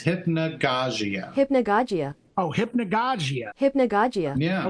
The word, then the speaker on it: Hypnagogia: I had Google pronounce it for me. They said it's Hypnagogia.